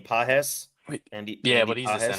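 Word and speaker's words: Pages: How do you pronounce his name? Pajes.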